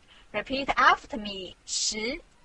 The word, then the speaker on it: 十: This is its syllable 十. Repeat after me 十. 十.